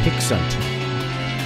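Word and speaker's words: Hic Sunt: The V is pronounced as a U. Okay, so Hicksunt.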